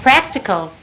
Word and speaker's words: practical: is that correct a practical yeah okay be sound practical p and K pnk sound please so P emphasize the p and the K could you say that